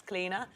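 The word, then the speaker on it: Clíodhna: It's Cleena.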